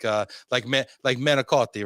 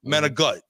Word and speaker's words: manicotti: So it's like manicotti, right? It's like manigut. You know, manigut.